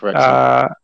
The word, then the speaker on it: Wrexham: Yeah, Wrexham.